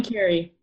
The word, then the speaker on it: Kari: Carrie. Carrie? Carrie Althoria. How do you think you pronounce it? Yeah, you're good. I was going Carrie.